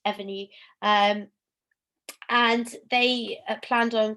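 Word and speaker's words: Evrnu: um it's spelt e-v-r-n-u very clever and it's pronounced ebony um and they planned on creating a line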